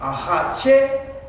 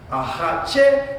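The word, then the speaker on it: axatse: So the accent, how many syllables? Ahache. That's 3 syllables. And the accent is on which syllable? Is it on the first syllable? No. Is it on the second syllable? No. Is it on the third syllable? Yes.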